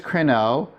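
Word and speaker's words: κρίνω: So here's crino with the acute accent on the first syllable. That's the present active indicative. This means I am judging. Here's crino with the accent on the second syllable in circumflex, and that's I will judge.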